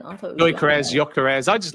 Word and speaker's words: Gyökeres: Joel, give the surname because I love your pronunciation of it. Victor. Victor plays for Sporting. Oh, Gyökeres. There we go. Victor Gyökeres.